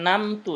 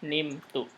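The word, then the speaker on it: نمت: Ini jadi bukan namtu ya. Jadi kalau saya sudah tidur bukan namtu, tapi nunnya kasroh. Jadi nimtu.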